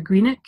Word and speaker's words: Grianaig: Okay, so Grianaig, even though it sounds like there's a K on the end, there isn't actually. So it's G-R-I-A-N-A-I-G. And that's actually Gaelic for Grianaig, which is where I am born and bred.